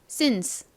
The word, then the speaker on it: since: 그런데 지금 C, E가 단어의 끝부분에 오기 때문에 조금 소리가 약해지면서 쌍시옷 스가 아닌 since, since 이렇게 좀 더 약한 발음으로 바뀌게 됩니다.